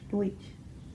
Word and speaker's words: Deutsch: Deutsch is how you say it, but Yeah, so Pennsylvania Deutsch.